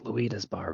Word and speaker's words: Luida's Bar: Yeah, it's Luida's Bar, by the way. Luida's Bar. Thank you. Well, I'm notorious for mispronouncing everything, so yeah, we'll get to that in a bit.